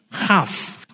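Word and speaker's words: כף: Cuma bacanya bukan kaf, tapi khaf.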